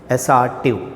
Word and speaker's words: assertive: assertive, not assertive. If you say assertive, that is a wrong pronunciation.